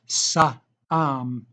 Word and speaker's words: Saam: Saam, pronounced Saam, was a high monk in Korea during the Joseon dynasty, 15th century.